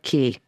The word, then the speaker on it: Cay: door to Great sturup key oh and it is pronounced Key by the way at least that's what